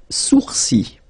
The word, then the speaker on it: sourcils: Les sourcils. Okay, so it's quite strange because you get this LS at the end, but then, well, you don't pronounce them.